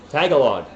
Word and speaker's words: Tagalog: Tagalog.